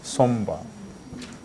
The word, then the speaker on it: somber: You pronounce the B here, somber.